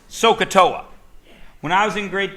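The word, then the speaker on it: SOHCAHTOA: word it doesn't mean anything my favorite it's pronounced soaa when I was in grade 10 I thought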